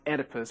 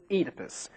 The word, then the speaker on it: Oedipus: this guy's name pronounced edus but we pronounce it edus why because we like it that way actually it's because this pronunciation is more true to the Greek original edus Rex a tragedy